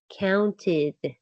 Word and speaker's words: counted: The ed sounds like id, counted.